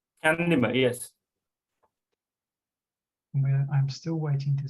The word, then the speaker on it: Chandima: Chandima? Chandima, yes.